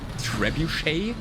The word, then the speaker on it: trebuchet: Yeah, I know, in English it's Trebuchet, right? Is what you say? I try to pronounce it French.